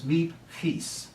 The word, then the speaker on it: Miep Gies: And her name is Miep Gies. Miep Gies. If you have a sore throat, it really helps in pronouncing Dutch words, right?